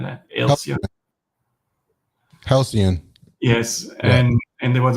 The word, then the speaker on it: Halcyon: I don't know how you pronounce it, but it was the good record store. HALCION or something like that. Halcyon.